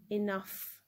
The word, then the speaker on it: enough: letter f fur so in english sometimes when gh is in the end it is pronounced as f as in enough enough right so moving on